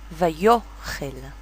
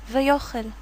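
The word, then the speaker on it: ויאכל: Vayochel. Vayochel. Do we hear the of the alef? Not really.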